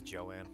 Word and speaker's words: Joann: Is it Jones or Jo-Ann's? I thought it was Jones Fabric, but I might have just heard it be talked to I might have just heard it from somebody who pronounced it weirdly. Oh, it is Joanne.